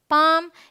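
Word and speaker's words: palm: ये है बाम, पाम, यहाँ भी एल साइलेंट है, ये है सैमन, ये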